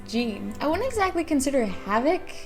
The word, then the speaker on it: Jean Havoc: odd one out he's voiced by the same voice as the actor playing jeene Havoc or Jean Havoc because that's how the author wanted it pronounced but I'm ignoring that it's genan I wouldn't exactly consider